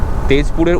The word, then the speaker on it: তেজপুর: laptop সমস্ত কিছু নিয়ে যাব হচ্ছে তেজপুর এখানকার তেজপুরের উচ্চারণ হচ্ছে তেজপুর মানে আমরা যেটাকে জ উচ্চারণ করি